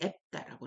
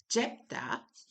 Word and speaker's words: Jephthah: 이 원래 제이 발음이 성경하고 독일에서는 나오지 않는데 앱다라고 이렇게 있죠. 근데 우리 영어에서는 이 제이 발음을 해줍니다. 그래서 잽다 그렇죠.